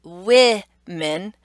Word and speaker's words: women: But think about how we're actually pronouncing the O differently. We have women and woman. Wo. Okay? So when we're talking about the I sound in fish, I, we make that same sound with an O, using the letter O in women.